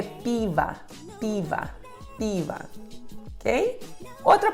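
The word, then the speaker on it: пиво: palavra e descobri que a sílaba tônica é a primeira pe pe que acontece com o segundo a sílaba com são o LC torna a então a pronúncia da palavra é Piva Piva Piva ok a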